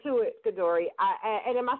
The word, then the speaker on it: CaDori: now we're going to get right to it godori I am I saying your name right that's